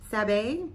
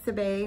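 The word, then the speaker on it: Sabie: It's by Sabe, S-A-B-I-E, it's accent on the E.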